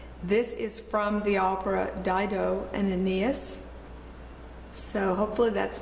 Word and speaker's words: Dido: is from the Opera Dido and Aeneas so hopefully that's not too hard to remember the title put an eye in there just think Dido that's how it's pronounced should be easy on